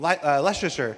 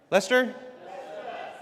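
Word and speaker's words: Leicester: Uh, straight out of Kleser back to the Hex photos from Leasher. How do you say? Is that Leasher? Lester.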